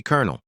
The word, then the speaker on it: colonel: Why do we say Colonel?